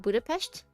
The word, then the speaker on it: Budapest: Budapestt. Budapest. He was like he was like he he he was like Americans say Americans say Budapestt. So weird.